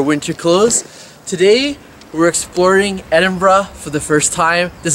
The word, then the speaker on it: Edinburgh: As a Canadian, I would be saying Edinburgh, but I keep hearing the locals say Edinburgh.